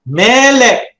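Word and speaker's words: מֶלֶךְ: So the segulate noun is characterized by pronouncing the accent on the first syllable.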